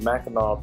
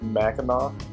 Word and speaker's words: Mackinac: see that we're in Ridge going through the Mackinac Bridge it connects the Upper Peninsula the loafing